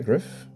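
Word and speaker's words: Gryff: guide Griff or gri how do you spell how do you say that like that am I correct um uh card number 35 gri I say Griff Griff oh okay yeah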